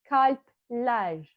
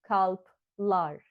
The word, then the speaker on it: kalpler: So when we want to say hearts, we will say kalpler instead of kalplar, because we don't pronounce it as like a real A. We soften it. It almost feels like a thin front vowel. That's why we treat it like a front vowel.